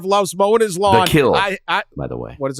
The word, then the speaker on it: Kiln: The Kill. By the way, what is it called? The Kill. The Kill. Oh, the Kill. Yeah, that's how they pronounce it. The Kill. Mm-hmm. So when I say Kiln, I'm not saying it right.